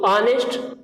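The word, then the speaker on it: honest: तो ऑनेस्ट यहाँ पे जो प्रोनाउंसिएशन हो रहा है अ से हो रहा है, तो अ से हो रहा है, इसका मतलब यहाँ पे जो साउंड है वो वावेल साउंड है, और जब वावेल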